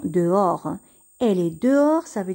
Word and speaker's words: dehors: chambre elle est dehors ici le h ne se prononcent pas le s ne se prononcent pas on va seulement prononcé des oeufs o'hare dehors on va dire dehors elle est dehors ça